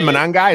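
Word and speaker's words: Monangai: Manangai? Is that how you pronounce it? I had no idea. Yeah. Manangai.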